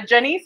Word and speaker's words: Janice: and this is a janiece rhymes with i always i always point and i don't know which way it's going rhymes with denise producer and founder of